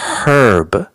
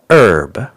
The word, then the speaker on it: herb: to your food and in American English we don't pronounce the h in Britain they say herb in the US herb hey do you smoke